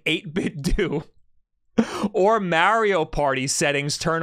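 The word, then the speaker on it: 8BitDo: on by default uh eight bit do that's how you pronounce it from the company itself so you're right emailed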